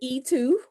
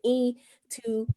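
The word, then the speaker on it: Eintou: to say things properly so i'll just say e2 okay so that's supposed to be african it is an african form in two and it's spelled e-i-n-t-o-u okay so uh i find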